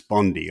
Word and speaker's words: Bondi: I still call her Pam Bondi, but it's Bondi. I think they call it. They pronounce it that.